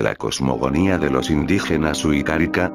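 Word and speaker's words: Wixárika: La Sierra Wirikuta es uno de los territorios más sagrados de la cosmogonía de los indígenas Huicárika, se pronuncia Huirárika, Huicholes, ya que según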